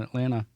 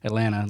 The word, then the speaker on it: Atlanta: and there's one in Atlanta on did you guys grow up in the South too? Yeah. So I say everything Southern. Atlanta, like there's no T at the end.